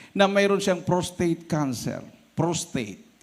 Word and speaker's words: prostate: Prostate, hindi po prostate. Prostate. Ang tamang pronunciation niya is prostate.